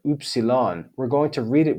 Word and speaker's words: upsilon: Then we have the 6th vowel, upsilon, upsilon.